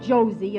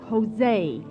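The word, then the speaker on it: José: It's not Josie, it's Jose. In Spanish, J is pronounced like H.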